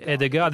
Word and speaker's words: Hedegaard: Madame Hedegaard, comment prononce-t-on votre nom en danois? Les Danois disent Connie Hedegaard, mais c'est imprononçable pour les autres.